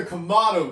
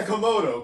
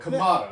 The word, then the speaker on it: Kamado: It's the Komado grill, right? Yes, you said it. Not the Komodo. Komado.